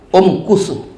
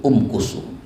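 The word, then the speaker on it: امكثوا: yang ikut waktu itu Um kusu diahlihim kusu Um kusu dia dia tuan-tuan sekalian kalau huruf kedua huruf kalau huruf ketiga itu berbaris damah maka bacanya umkusu begitu dia kaidahnya begitu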